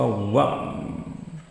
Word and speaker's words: one: One. Tulisannya on, bacanya one.